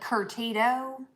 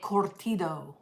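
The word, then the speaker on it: curtido: her i said how what is the right way to say this word and she said you were just she said we say it cortido it looked like you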